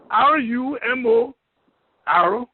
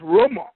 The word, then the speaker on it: rumor: r or M O English pronunciation as romor in of rumor and many liberians have say pronouncing the word rumor instead of I mean RoR instead of rumor so I'm making this